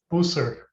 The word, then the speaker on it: Bousser: Bousser or Bousset? Bousser. Bousser. I'm totally wrong.